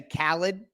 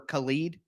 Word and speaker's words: Khalid: I never know whether to say Khaled, like DJ Khaled, or Khalid. You know what I mean? Because, I've seen it pronounced both ways, but Khalid Duke, out